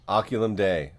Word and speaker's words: Oculum Dei: what we got yeah Josh how do I pronounce the band name oculum day oculum day okay yeah and it's Josh and I'm gonna